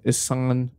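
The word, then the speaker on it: Ihsahn: the group was founded by issan is how you say his name uh well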